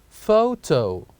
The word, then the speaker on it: photo: P and H pH the second word that starts with P and H is photo photo say after me photo and here as well we can see the word photo starts with P and H and pronounce as photo and next we have